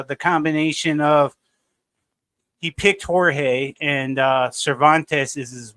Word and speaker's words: Jorge: it go since you corrected me it's not pronounced George it's Jorge that's what how he pronounces it yeah the